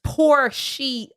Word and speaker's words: Porshea: She's Porshea. It's spelled like it sounds.